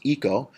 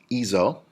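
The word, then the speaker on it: hizo: avoid a hard see if it was HIC oh it would be pronounced eco and we wanted to pronounced easel so ease hola terraria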